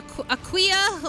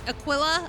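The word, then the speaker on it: Aquila: I think you're pronouncing it right. It's not a It's not a Aquia or Aquilla or anything. It's a Aquilla.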